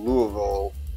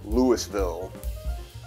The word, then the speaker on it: Louisville: also heard someone call louisville lewisville i guess they didn't get the memo that the s is silent in both accounts but i digress that